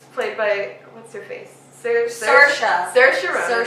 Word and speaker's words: Saoirse Ronan: Saoirse Ronan. It's a weird spelling, but that's how it's pronounced.